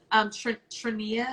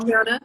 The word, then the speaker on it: Triana: Trinia, is that how you say her name? Brown? Triana. Oh, yeah. Triana.